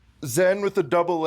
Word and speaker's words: Zhenn: Zhenn with the double N.